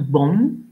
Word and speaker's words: bomb: Alors, le verbe bombarder, c'est to bomb. Alors, on ne prononce pas le b de la fin.